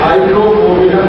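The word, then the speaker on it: Hydrophobinum: दवा का नाम है हाइड्रोफोबिनम। मैं स्पेलिंग बोलता हूँ HYDRO, HYDRO, फिर उसके बाद PHO, P for parents, PHO, BI, ये भी वाला भी, BINUM, हाइड्रोफोबिनम, ये दवा है।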